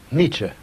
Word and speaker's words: Nietzsche: talking about so we can get the correct pronunciation from you foolish Nietzsche who was he Nietzsche was one of the